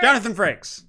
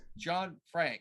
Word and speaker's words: Jonathan Frakes: And because we always say his last name wrong. Right. Jonathan Frakes. Jonathan Frakes. Thank you. You always say his last name wrong. Well, whatever. Frank. I was like John. I want to say John Frank. Jonathan Frakes. Right. Frakes. I know Franks.